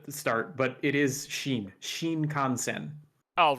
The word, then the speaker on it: Shinkansen: Haven't I heard if the bullet train, the Shinkansen, is that how you pronounce it? I'm going to pronounce that wrong. Shinkansen.